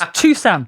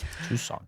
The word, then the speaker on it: Tucson: But it's Tusan. Tusan. Tucson. Tusan.